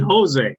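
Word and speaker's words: José: a mexican chili yeah it's spelled with a j but in spanish the j and the h are opposite so if you see uh jose a-j-o-s-e it's actually jose yeah so instead of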